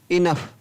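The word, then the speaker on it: enough: ENOUGS, इनफ, क्या पढ़ा गया, इनफ, तो यहाँ पर GS को क्या पढ़ा गया, फ।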